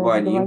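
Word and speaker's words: גוונים: были предоставлены Килим, Абацурот, Гаваним, как правильно читается, Гваним, Гаваним, конечно, да.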